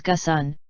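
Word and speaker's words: Ghosn: nissan mitsubishi and renault carlos gosan the arabic pronunciation is gassan had homes in rio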